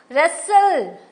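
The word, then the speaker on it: wrestle: हमने क्या बोला नॉक रेसल देखो रेसल डब्लू टी E silent है वक एल साइलेंट है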